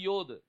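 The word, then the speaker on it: יוד: மாட்டேன் யாதுன்னு தான் சொல்லுவேன் i would not pronounce it யோத் but i would pronounce it யாத் ஏன்னா ancient hebrewல அதை யாதுன்னு தான் சொல்லுவாங்க in the ancient hebrew it is யாத் சோ அதனால யாத் ஹே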